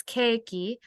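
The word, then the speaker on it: ケーキ: likes cake hi Nicola cake in Japanese it's cakey I just wrote it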